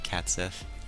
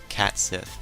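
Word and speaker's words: Cait Sith: I believe I pronounced that right, Cat Sith. I get a kick out of saying that name, because I know that's not how you say cat, because C-A-I-T is not cat.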